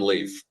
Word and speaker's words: Leif: it even though we will still call him Leaf in the in the house and when we're hanging out with him but yes technically 100% it is Lea L A YF as far as pronunciation goes can I get you